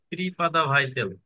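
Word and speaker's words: преподаватель: আর অধ্যাপক, অধ্যাপককে বলে হচ্ছে প্রিপাদা ভাইতেল।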